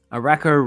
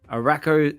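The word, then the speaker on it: Arakko: Arako rhymes with whack. Oh, that's a good one. Whoops. So D comment here. Arako rhymes with wacko.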